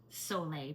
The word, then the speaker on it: Sole: It's pronounced Sole, but it's spelled S-O-L-E, and sometimes it's mispronounced Soul water.